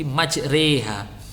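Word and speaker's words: مجريها: Kemudian ada tanda wajik tanda wajik ya, kayak kartu remi tanda wajik di bawah ro pada lafadz ini majroiha, itu maknanya dibaca imalah menjadi majreha.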